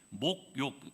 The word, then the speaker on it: 목욕: 한참 고민을 했는데 내려와서 어떤 분이 저한테 말씀하시기를 목사님 모욕이 아니라 목욕입니다라고 이야기를 하시는 겁니다. 제가 이게 사투리다 보니까 모욕이라고 표현을 하는데 목욕, 목사님 쌀이라고 발음 못하시죠라고 또 저를 이렇게 물어보시던데 쑤셔 넣다 이게 사투리인가요?